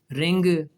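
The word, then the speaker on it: wring: और जब आर आ जाए तब भी डब्ल्यू साइलेंट हो गया, देखें, राइट, रैप, रॉन्ग, उसके बाद जो है वो रेसलर, रिंग, रैथ, बहुत सारे लफ्ज़ हैं WR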